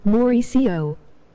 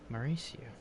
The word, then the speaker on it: Mauricio: It's pronounced more like Mauricio. Mauricio.